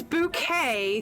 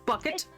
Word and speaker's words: Bucket: I mean that's that's bouquet thank you not Mrs bucket bouquet it never was bouquet before I married you